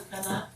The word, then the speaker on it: Alcalá: And how do you pronounce the last name? I've known you for years and I never get it wrong. Alcalá.